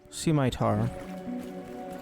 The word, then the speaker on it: scimitar: Scimitar. Actually, I don't even know how you would pronounce that funny.